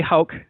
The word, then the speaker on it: Hauck: the show uh please I think I only messed up your name but I'm going to say it right this time Dr Wally hul is here he's going